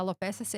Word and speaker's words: alopecia: E existe até uma alopecia, que a alopecia é a tradução para queda de cabelo, nome